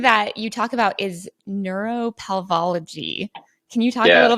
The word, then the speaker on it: neuropelveology: So no, it's neuropelveology. But okay, pelviology. Okay, it's a European title, so they got to add some extra vowels in there.